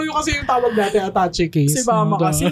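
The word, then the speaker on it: attaché case: Pero yung kasi yung tawag natin, attache case. Si mama kasi attach case kasi ang tawag niya sa ano niya. Yung Pero mga... ang alam ko ang tamang pronunciation, attache case. Hindi siya attache case.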